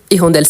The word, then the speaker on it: hirondelle: Donc, hirondelle, c'est un mot féminin. Il s'agit d'un oiseau. Et c'est un H muet. C'est un H muet. On peut faire liaison et élision.